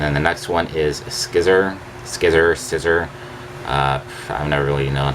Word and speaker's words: Scizor: And then the next one is Scizor. I've never really known how to pronounce it. I usually just say Scizor, like scissor is cut.